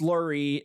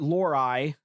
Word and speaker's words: Lurie: And his name is pronounced Lurie, not Lori, as in Mason Lori, now currently with the Ohio State Buckeyes and former torturer of the Youngstown Phantoms.